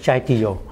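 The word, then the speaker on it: Kyaiktiyo: là Golden Rock, mà tiếng Miến Điện nó đọc là Chai Tiêu.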